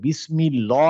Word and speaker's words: বিসমিল্লাহ: বলতো পিংকি বলো আল্লাহ শব্দের ভিতরে তো আমি বলছিলাম লাম টা হচ্ছে হেভি তাহলে বিসমিল্লাহ কেন হলো না বিসমিল্লাহ কেন হলো কারণ হচ্ছে জের জেরের কারণে কোথায় এখানে তো বিসমিল্লাহ মিম হ্যাঁ মিমে মিমে কাসরা আছে এইজন্য বিসমিল্লাহ হ্যাঁ এইজন্য কিন্তু যখন আমরা